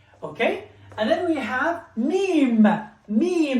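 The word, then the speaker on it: ميم: And then we have mim, mim, the letter mim, which is the letter M in English.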